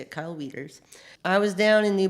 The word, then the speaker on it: Kyle Wieters: that song come from a friend of mine Kyle whiters no weeders that's how you say it Kyle Wieters I was down in